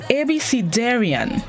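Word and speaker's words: abecedarian: see this morning's word of the day is ebysidarion abc darien it's spelled a b e c e d a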